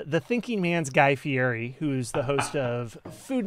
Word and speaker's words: Fieri: I think it's actually Fieri, if you wouldn't mind pronouncing it with the proper Italian pronunciation.